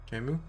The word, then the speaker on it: Camus: Camus? Camus? The S isn't pronounced?